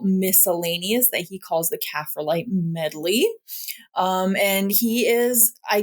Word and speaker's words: coprolite: He does have a section here that says, it's pronounced Coprolite.